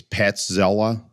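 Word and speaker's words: Petrzela: I think it's Petzela. I think the R is silent there.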